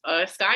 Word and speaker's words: Skigh: And it's Sky is spelled Skigh.